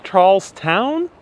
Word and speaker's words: Charlestown: going to charleston does is it pronounced charles town or charleston maybe it is pronounced town so charlestown we're going to charlestown oh yes says that